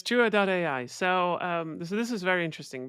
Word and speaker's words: Jua.ai: I'm pronouncing this Jua.ai. It's Jua.ai.